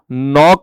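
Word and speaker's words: knock: में आएगी कि दोस्तों नॉक वर्ड अगर तुम बोलते हो तो उसमें के साइलेंट होता है दोस्तों रॉन्ग के अंदर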